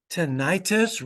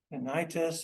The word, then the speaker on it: tinnitus: Tinnitus, ringing in the ears, may also be pretty common. Tinnitus, or as the British say, tinnitus.